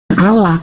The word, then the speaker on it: Allah: Nah, berarti alef lamet dibacanya Allah, A-L-L-A bang, gitu loh.